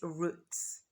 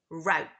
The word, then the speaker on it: route: the missing word is roots the singular version being root so in British English we say root root but in American English we say route what's this in British